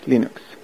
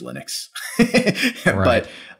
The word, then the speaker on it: Linux: internet, probably even today, of Torvalds saying, hi, I am Linus Torvalds, I pronounce Linux. Hello, this is Linus Torvalds, and I pronounce Linux as Linux. That's the whole wave file. Just to kind of set the record straight. Set the record Nowadays, straight. I think everybody knows, that it's just Linux.